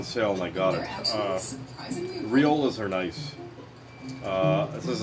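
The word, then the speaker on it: Rioja: favorite wines is the riolas and that's how you pronounce it I'm assuming riola riola riola the grapes whenever I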